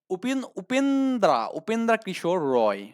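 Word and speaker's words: উপেন্দ্রকিশোর রায়: তাহলে আপনার এখানে তাহলে উপেন্দ্র কিশোর রায় ও সুকুমার রয়, মানে ইংলিশে উচ্চারণ এক কিন্তু বাংলায় উচ্চারণ হচ্ছে আরেক, ঠিক আছে।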